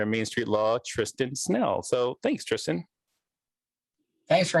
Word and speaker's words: Snell: current managing partner of Main Street Law, Tristan Snell.